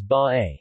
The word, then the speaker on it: Bay: they pronounced as by officially the municipality of